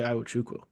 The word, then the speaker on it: Iwuchukwu: Just happy I can say Iwuchukwu. I'm not going to get into I trust you with pronunciation.